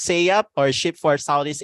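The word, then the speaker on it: SSEAYP: us um say yeah so that's how to pronounce it it was a hard time for me to pronounce a while ago s s e a y v so it's just say up or a ship for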